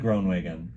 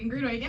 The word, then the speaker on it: Groenewegen: Lauren Post, Alex Basmagy, and Kiely Groenewegen. Did I say it correctly? You said it perfectly.